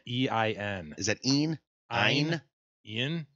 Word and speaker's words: Ein: But it's spelled E-I-N. Is that Ian? Ein. Ian? If you go by Einstein, it's Ein.